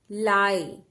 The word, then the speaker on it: lie: एल आई ई, लाई। ई का sound नहीं आएगा, हम लॉन्ग साउंड आई सीख रहे हैं इसलिए लॉन्ग साउंड आई ही प्रोड्यूस होगा।